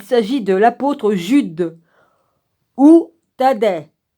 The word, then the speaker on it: Thaddée: Le troisième Judas est contemporain de Judas Iscariote, puisqu'il s'agit de l'apôtre Jude ou Thaddée. Je crois qu'il faut prononcer le E au bout. T-H-A-D-D-E-E.